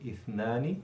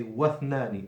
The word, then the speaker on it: اثنان: So you say ithnani with the tongue out in the second letter, and with the hamza al-wasli, the weak hamza in the beginning. So if you put anything before it, you don't pronounce the weak hamza anymore. You drop it in pronunciation. So you say, for example, if you put the waw before, you say wathnani and 2.